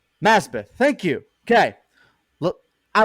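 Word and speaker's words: Masbath: sounds like something different and i hate to mispronounce it his last name here because young nazbeth masbeth thank you okay look i like the inclusion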